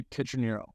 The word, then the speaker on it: Pietroniro: So it would be Pietroniro.